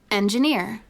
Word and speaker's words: engineer: And here we have engineer with the stress on near.